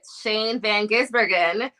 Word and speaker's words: Shane van Gisbergen: Stuart hos um we also got news that Shane Van gisbergen our Chicago Street course winner I said it